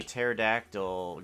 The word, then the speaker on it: pterodactyl: can't you hear a pterodactyl go to the restroom because the p is silent know that one for